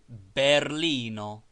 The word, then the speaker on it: Berlino: as it is read every word is accented on the last syllable but one as berlino Berlin berlino edino Ed